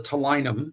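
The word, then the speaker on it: ptilinum: It billows out of their face and exerts that that balloon basically called a tinum with a P, a silent P on the front.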